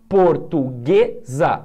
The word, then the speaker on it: Portuguesa: paroxítonas Então vamos lá Portuguesa Portuguesa sim é paroxítona porém Central tem duas